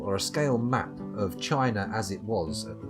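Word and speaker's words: Qin: it's how it's spelled then if you nothing's pronounced chin but apparently he used to drink mercury as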